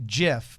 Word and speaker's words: GIF: were talking about gifs the guy that invented the file format it's not a gift he said I always envisioned it being pronounced jiff but everybody says gif so I don't know if it's a tomato tomahto thing here I've heard this